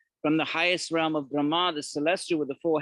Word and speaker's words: Brahma: Brahma is not Brahman. I don't know if I've discussed that, but let's not take a detour now. Brahma with a long A is a celestial.